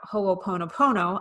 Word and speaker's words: ho'oponopono: and we talked in the last episode about ho'oponopono i've been practicing how to say it so